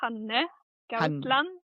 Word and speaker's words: Hanne Gausland: I would say Hanne Gausland.